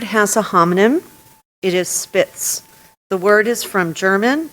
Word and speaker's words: Spitz: ET this word has a homonym it is spits the word is from German it is a noun a medium-sized white dog descendant from Pomeranian ancestors and often regarded as a constituting a separate breed Spitz and any alternative pronunciations spits can you tell